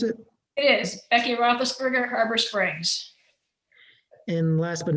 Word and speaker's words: Roethlisberger: Becky Roethlisberger, is that how you pronounce it? It is Becky Roethlisberger, Harbor Springs.